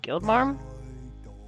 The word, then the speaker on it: Guildmarm: No, like guild, like a guild from like a quest guild. Oh. Yeah. Guildmarm?